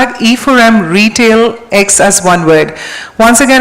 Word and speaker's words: RetailEX: to please # e4m retail X as one word once again it is retail ex it is pronounced as retail X so just remember to